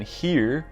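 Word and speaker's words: hir: of humanity he calls it uh she but it's spelled capital s capital h e just putting she and he together and then here as in like his or her h-i-r as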